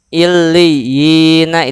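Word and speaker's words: عليين: Kalla inna kitabal abrari lafi illiyina. Bacanya gimana? Illiyin. Panjangnya kalau ketika wasol 2 harokat, tapi ketika wakof 2 sampai 6 harokat.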